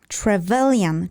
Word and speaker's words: Trevelyan: I learned to pronounce it, so I will pronounce Trevelyan, Charles Trevelyan.